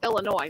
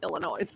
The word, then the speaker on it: Illinois: to mom well everybody it's illinois not illinois everybody always calls illinois